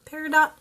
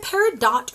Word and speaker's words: peridot: Peridot. Is it Peridot or is it Peridot? I've heard both for the August birth certificate. I've heard the gem pronounced both Peridot and Peridot for the August birthstone.